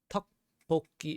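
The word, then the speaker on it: 떡볶이: Okay, tteokbokki is the English spelling of it, but it's just pronounced like tteokbokki.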